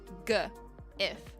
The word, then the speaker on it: GIF: I always say GIF because it's a G. If you say Jif, I think you mean Jiffy peanut butter. It's a G or a J. And because it's spelled G, I say GIF. GIF. Not J-if.